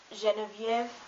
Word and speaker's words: Geneviève: But in some foreign words, especially of French origin, it's pronounced like je, like Geneviève.